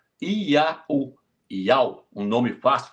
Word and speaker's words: Iau: E na nossa letra, no nosso português, é I-A-U. Iau, Iau, um nome fácil de pronunciar.